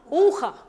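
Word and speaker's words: ухо: La segunda palabra, uja. Así es, uja, ujo, pero allí dice ujo, pero se pronuncia uja, oreja.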